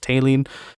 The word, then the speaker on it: Taline: For Gaia and Mare, so water and earth, it is Taline, which is Ptaelan. So basically the P in the beginning is silent, so it's just Taline.